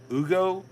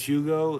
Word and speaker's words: Hugo: Ugo, his name's Hugo in America, but his name, you pronounce it Ugo, like Ugo Lord, the lawyer guy.